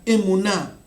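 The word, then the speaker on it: אמונה: fe, encontramos esta palabra en hebreo que se pronuncia emuná.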